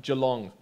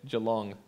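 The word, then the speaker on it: Geelong: Melbourne it's near Melbourne Joe long that's how they say it Joe long Victoria so I went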